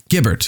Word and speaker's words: Guibert: Gibbert, excuse me. Gibbert. It's natural to mispronounce the name. Looks like Guy.